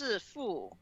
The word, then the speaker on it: Sifu: I don't know if it's Sifu or Sifu because I asked my. I think everybody's been pronouncing it Sifu. Sifu. Yeah. Okay. Because that's going to mess with me because it's meant to be based off of like Chinese martial arts. But in Chinese, it's pronounced Sifu, which means master.